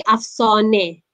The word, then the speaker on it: Afsane: Kalau bahasa Parsi, Afsane.